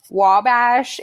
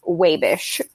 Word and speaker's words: Wabash: living in Indiana also it is not actually Wabash if you're from Wabash it's pronounced wave ish but there we go what are they saying